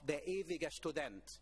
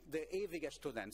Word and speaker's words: Der Ewige Student: by the name of Der Ewige Student. I'm pronouncing it in German. And Der Ewige Student.